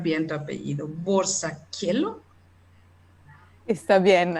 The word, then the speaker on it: Borzacchielo: Y, espero pronunciar bien tu apellido, Borsaquielo. Está bien, Borsaquielo, gracias. Borsaquielo.